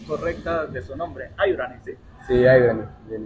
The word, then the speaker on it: Haibrany: la pronunciación correcta de su nombre, Ayurani, sí.